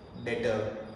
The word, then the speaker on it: debtor: डेटर जिसमें B silent है।